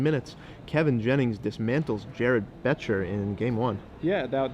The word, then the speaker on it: Boettcher: to apologize to Jared I've been mispronouncing his name the whole time it's beter the O silent okay great that's a